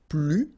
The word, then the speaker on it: plus: and in that case you don't pronounce the S, okay, plus.